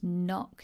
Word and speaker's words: knock: They're all Viking words, old Norse words, and the K and G were pronounced, but not now, but we keep the K and G in to show the history of the word.